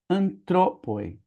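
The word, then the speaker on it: ἄνθρωποι: O acento tá aqui no an e aqui é antroppoi. Antroppoi. O acento caiu lá pra segunda.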